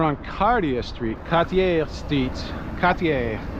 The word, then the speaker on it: Cartier: Cartier. That's how you say it in French, I believe.